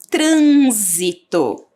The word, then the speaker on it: trânsito: zi olha o som não parece o som do Z mas não temos a letra z nós temos uma outra letra que nesta palavra tem som de z que é a letra s então para fazer o